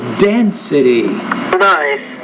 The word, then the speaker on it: density: increase in density so density the stress is on that first syllable density after two wins the